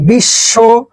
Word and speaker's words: বিশ্ব: বিশ্বতে হালকা একটু উচ্চারণ আছে।